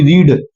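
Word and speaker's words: read: थोड़ा अलग निकलता है उसको बोलते हैं रीड इसको बोलते हैं रेड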